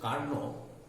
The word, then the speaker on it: Carnot: of the second engine it's the pronunciation is karna and they this is